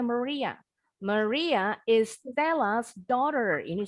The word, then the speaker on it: Maria: Maria, kalau bahasa Inggrisnya pengucapannya Maria.